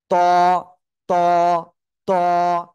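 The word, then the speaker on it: ط: অক্ষরের নাম হলো ত জিহ্বার আগা ওই দুই দাঁতের গোড়ায় লাগান লাগিয়ে একটু মোটা আওয়াজে উচ্চারণ করেন ত ত ত এক আলিফ টান হবে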